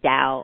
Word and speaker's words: Tao: T-A-O Academy, Tao, or Tao, but it's also Tao Academy, yes.